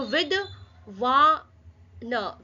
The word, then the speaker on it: विद्वान: So with पहले with बोलेंगे उसके बाद छोटा जो अक्षर है आधा अक्षर है उसको प्रोनाउन प्रोनाउंस करेंगे। सो विद व न विद्वान समझ में आया?